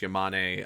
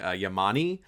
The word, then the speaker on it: Yamane: Like, not only does he mispronounce like a few characters' names, like he calls the paleontologist Yamane Yamani, but also, and I